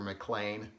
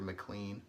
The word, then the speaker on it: McLean: then uh this one I know for sure because I heard Rick say it Piper McClane I always said Piper McLean so I feel your